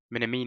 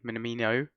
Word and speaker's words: Minamino: Minamini even. Minamino.